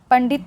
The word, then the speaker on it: पंडित: ठीक है, तो यहाँ पर जो इसका उच्चारण होगा वो न के रूप में होगा, आधा न के रूप में। ठीक है, तो क्या हो जाएगी, पंडित पढ़ेंगे हम इसको।